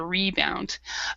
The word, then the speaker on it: rebound: be on the rebound so we actually pronounced we actually stressed the the re so she's on the rebound um so you said